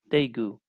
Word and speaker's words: Daegu: So Daegu, is Yeah, that how you pronounce Daegu. it? Daegu.